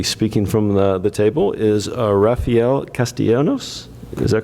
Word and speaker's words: Rafael Castellanos: going to be speaking from the table, is Rafael Castellanos. Is that correct pronunciation with the Port of San Diego?